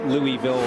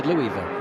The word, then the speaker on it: Louisville: You're going to have to work on your Louisville pronunciation. What did I say? Louisville. Yeah, it's Louisville.